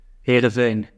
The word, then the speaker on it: Heerenveen: Heerenveen.